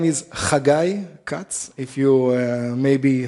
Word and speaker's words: Haggai: pronounce the weird name so you have the ha in dutch so you can use it hagai cats one of the oracles from the bible it's a guy and i'm 37 i'm